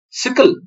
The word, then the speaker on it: SYCL: and DPC plus plus sickle it's pronounced as s-i-c-k-l-e-sical and DPC plus plus